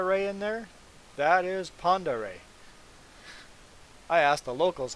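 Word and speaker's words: Pend Oreille: what's this lake called lake pondere that is pronounced lake ponderay do you see panda ray in there that is panda ray i asked the locals how to pronounce it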